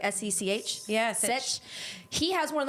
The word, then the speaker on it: Sech: I probably pronounce his name wrong. Is it Sech? It's like S-E-C-H?